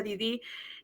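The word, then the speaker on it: Dédée: Johnny, bueno, yo le digo DD, pero me parece que se pronuncia Didí, eh, Tica y todos todos los personajes son más humanos.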